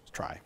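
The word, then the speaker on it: trie: the inventor of the try it's it's sometimes pronounced tree but the yeah but the the the guy that developed it said it should be called the try and I forget which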